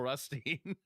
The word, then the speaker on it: Rutstein: Yeah, it's is it pronounced Rustine or is it Rustine? I always say Rustine. Stein and Steen, you can say them either. They're okay.